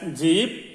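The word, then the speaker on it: जीभ: The tongue is pronounced as jeeb.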